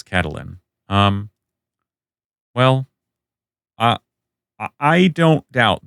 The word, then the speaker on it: Catelyn: Uh, Elaine Stone, Cat Ellen. Kate Lynn versus Cat Ellen. That middle syllable. And there's 2 syllables in Elaine. Thus, the argument here is there should be 2 syllables in Ellen, thus Catalin.